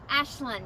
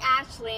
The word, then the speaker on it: Ashlyn: Ashlyn. Ashlyn, what's your name, brother? That's Anthony. Thank you for okay. actually saying it right. So many people call me Ashley, and it's like it's a nice name.